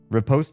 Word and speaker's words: riposte: Riposte is apparently more US and riposte is UK.